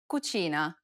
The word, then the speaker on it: cucina: and i sounds together this sound is identical to the ch in church the only difference though is that it's stressed even more in italian than it is in english listen to the example